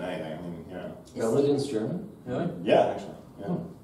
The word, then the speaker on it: Belledin: How do you say the name? Is it Belledin? It's Belledin.